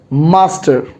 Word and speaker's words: Mstr: s t r and how do we pronounce it it is master i repeat it is